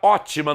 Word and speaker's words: ótima: A palavra ótima no terceiro quadrinho recebe acento por ser proparoxítona, e aí você sabe que quando a antepenúltima sílaba for a mais forte, a palavra é considerada proparoxítona.